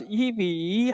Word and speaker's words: EVE: ebe we are ebe please pronounce like e v e not eve we are group companies